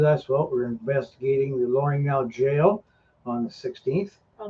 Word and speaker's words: L'Orignal: Well, we're investigating the L'Orignal jail on the 16th. Oh, that's how you say it. I was saying l'original.